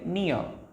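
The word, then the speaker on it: near: और आर, आपको मैंने बताया था कि अगर आर की पहले ए ई आई ओ यू आता है तो उसको हम साइलेंट कर लेते हैं, तो यहाँ पर ए आ रहा है इसलिए इसको हम साइलेंट कर लेंगे, इसलिए बोलेंगे नियर नियर।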